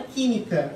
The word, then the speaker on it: química: Então, por exemplo, na própria palavra química, ó. Química. Ó, última sílaba tônica, última sílaba, penúltima sílaba, antepenúltima. Como é a antepenúltima sílaba, que é a tônica, então é uma proparoxítona. E por ser uma proparoxítona, vai ser o quê? Vai ser acentuada.